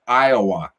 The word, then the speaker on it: Iowa: I got a video coming up tomorrow that's from Iowa. Okay? That's EYEOWUH. Iowa.